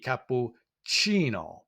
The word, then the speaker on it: cappuccino: So we see all the vowel sounds are pronounced in that. We also see that we have a soft sound with that C for chi, cappuccino.